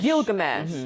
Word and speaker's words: Gilgamesh: Gilgamesh. Gilgamesh. It is Like Gil fish with gills. a G. Yeah, she did. Why did Gilgamesh have to save Thena? Why was Thena more important than Gilgamesh?